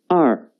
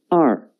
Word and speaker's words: 二: about two horizontals yes it means two the pronunciation is r r now let's write it together the basic writing